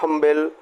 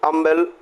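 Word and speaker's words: humble: अगले क्वेश्चन को अगर हम देखें, सबसे पहले खाली जगह, फिर लिखा है हम्बल यानी अम्बल ऑक्यूपेशन, राइट। तो दिस इज अगेन क्या लिखेंगे? एस साइलेंट है और अम्बल ऑक्यूपेशन, ये आप देख रहे हैं ये क्या है?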